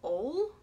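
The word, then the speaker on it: Auel: I think you pronounce her last name Ole? It's A-U-L-E.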